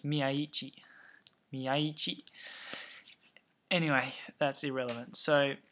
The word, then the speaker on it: Miyaichi: Those English commentators, they've got me saying his name wrong. They they keep going Miai or whatever, but it's Miai.